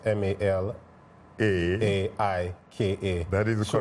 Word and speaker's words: Malaika: So I actually wanted to so my Malaika is spelled Malika, right? But the way it's supposed to be pronounced is Malaika.